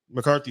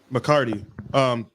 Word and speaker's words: McCarthy: we talked about at the Darren McCarthy show. McCarty. I know I said it right the first time, then I corrected myself like a dummy.